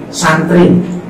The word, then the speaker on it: SUN TREE: Baik, teman-teman ini kalau boleh nanti dilihat ini judulnya adalah Santri, SUNTREE. Jadi tapi kalau dibaca pronunciasinya adalah Santri.